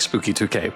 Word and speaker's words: SpookY2K: I do like Spooky 2K.